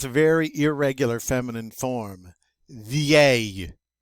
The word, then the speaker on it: vieille: But now, look, this has a very irregular feminine form, vieille. And that double L is pronounced like a Y, so it's vieux in the masculine, vieille in the feminine.